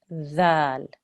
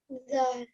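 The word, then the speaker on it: ذال: Okay, so where you're saying zal, you can hear a buzzing sound. You know the TH sound where you put your tongue right up underneath your top front teeth and you make a th sound.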